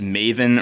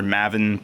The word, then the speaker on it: maven: There are, I think it's pronounced Maven or Mavin, but it basically means